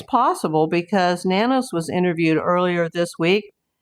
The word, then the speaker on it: Nanos: And I'm sorry, Chris Nanos, or if we want to say it correctly, the Spanish way, it's nanos. But I've been saying nanos like the media.